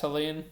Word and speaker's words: Helene: Is it pronounced Helene?